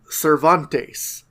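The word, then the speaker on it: Servantes: Rodrigo his name is Cervantes but it's spelled like servant but it's pronounced like Miguel Cervantes the great Spanish writer it's just such a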